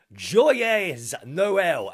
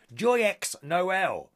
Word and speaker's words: Joyeux Noël: Joyeux Noël. Am I saying that right? It's got an X in it. I don't think you pronounce the X. Joyeux Noël.